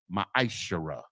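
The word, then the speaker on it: מעשר: verses 8 through 10 means 10th in the hebrew and it's pronounced ma shara ten percent of every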